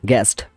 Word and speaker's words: guess: গেস্ট মানে অতিথি। গেস মানে অনুমান করা, GUES, গেস মানে এখানে ইউটা হচ্ছে সাইলেন্ট লেটার।